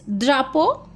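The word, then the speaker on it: drapeau: इट्स द्रापो इ ए यू जहां भी यह साउंड होगा इट्स ओ द्रापो फ्रोंसे ल द्रापो फ्रॉसे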